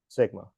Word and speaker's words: sigma: one and it uses the symbol which is pronounced Sigma okay that's all you need to get out